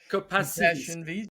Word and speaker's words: Compassiviste: really It's means, pronounced no, compassion, compassiviste.